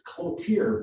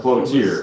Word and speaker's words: Cloutier: Frank Cotier, or Cotier, how would you pronounce it? It's Cloutier, but Cloutier. It's often misspelled. Yeah, so sometimes it's Cloutier with an L, and then it's lost the L here, and it's Coutier, piano